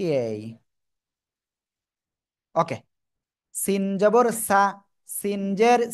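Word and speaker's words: سين: কি অক্ষর সেটা সিন সিন চার এলিফ টেনে উচ্চারণ করবো সবাই একসাথে জোরে জোরে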